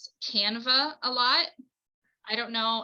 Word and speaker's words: Canva: Or And that's spelled Canova. no, Canva, Canva.